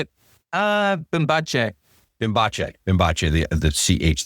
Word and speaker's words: Bimbache: Uh Bimbache.